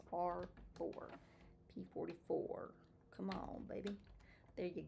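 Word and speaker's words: R4-P44: Oh, R4P44, not R4. Wait, RP44 is what I always want to say, but it's R4P44.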